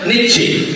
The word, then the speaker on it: Nietzsche: Tulisannya payah mingin. Pokoknya jauh membacanya Nietzsche.